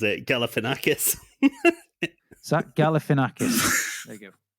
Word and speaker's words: Galifianakis: But he pronounces it Galifianakis.